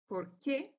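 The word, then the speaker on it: porque: When we pronounce the two, you can hear that for asking questions, we say por qué, but when we respond with because, we say por qué. So there is no stress, but it's kind of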